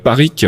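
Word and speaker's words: Parrique: Parikh, c'est comme ça que ça se prononce.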